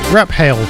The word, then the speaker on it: Raphael: called Runaway s featuring Felix Raphael or if you pronounce it like an Englishman rap hail up next is Rob